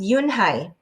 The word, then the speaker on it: Unhei: Your name is Eunhee? He asked with his eyes open wide. Yunhai looked quickly at Mr. Kim, then turned to Joey. She nodded slowly. Yes, it's pronounced Yunhai.